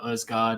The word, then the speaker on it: Aasgaard: like it's kind of a silent H if you like and then yeah I think we called him Telawasgard but I think when you go to Norway it's more like Ogard and they spell his